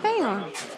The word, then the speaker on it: Beorn: Bayon.